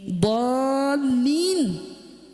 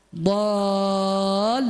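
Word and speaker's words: الضَّالِّين: Jadi begitu misalnya ghair waladdallin, dallin itu do-nya ada tasydid, lamnya ada tasydid. Dallin. Jadi bukan ghairil maghdubi alaihim waladdallin. Linnya datar, enggak. Waladdallin, karena kan ada tasydid.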